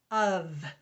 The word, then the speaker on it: of: And this is not pronounced f, it's pronounced v. Of. There are 3 of us. So we're going to put 2 little lines under that F, under that f, so that we'll remember that it's spelled differently than it sounds.